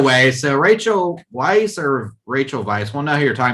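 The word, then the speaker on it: Rachel Weisz: pronounced is it pronounced rachel vice like a v sound yeah it's spelled with a w but when rob said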